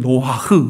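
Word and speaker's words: נח: 우리가 알아야 될 것은 뭐냐면, 이 노아는 그냥 우리말로는 노아지만은 히브리어로는 노아흐 그래요. 발음이 지금 그렇게 나오는데, 그 뜻이 뭐냐면 위안이라는 뜻이에요.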